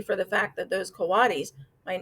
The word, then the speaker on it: coatis: Brisbane said, reading from the letter, pronounced coatis.